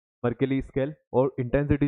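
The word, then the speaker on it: Mercalli: इसको मेजर करने वाली कौन सी स्केल होती है, मर्सेली स्केल होती है, सॉरी मर्केली, इसको कैली प्रोनाउंस करेंगे तो मर्केली स्केल होती है।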